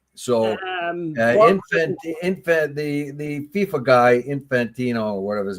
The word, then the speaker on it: Infantino: So, the FIFA guy, Infantino, or whatever his name is, I keep mispronouncing it. Infantino. Yeah, I was right. Yeah, Infantino.